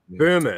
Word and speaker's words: Böhme: So German idealism has a weird Rosicrucian link, and Hegel read frickin' Jakob Bohm and all of that kind of stuff, or Jakob, or however you pronounce it. But Böhme.